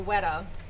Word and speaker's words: weta: She said, but there is this one bug called a weta, but I haven't seen one here in 2 weeks.